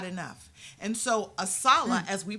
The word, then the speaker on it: ASALH: And so ASALA, as we pronounce our acronym, Yes, ma'am.